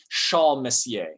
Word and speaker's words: Charles: by the name of charles messier or if you want to pronounce his first name in in the french that he lived in um shaw messier okay there you go